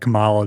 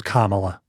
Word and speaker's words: Kamala: pronounce it ca Harris so initially they were pronouncing it like Kamala the unon giant type thing when she first came on the scenes but it's Kamala okay so I'm going to say Kamala anyway